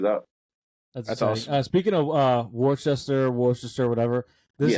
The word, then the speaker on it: Worcester: Worcester is spelled like Worcester. It's like Worcestershire sauce. Okay, I couldn't figure out how to say Worcester for the longest time, but it's in Worcester, Massachusetts.